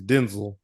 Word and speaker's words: Denzel: told people you know people have been saying it wrong it's not Denzel like it's Denzel I was like bro